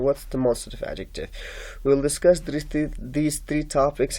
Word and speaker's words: adjective: they say adjective adjective they pronounce the d with it while d is silent here d is not pronounced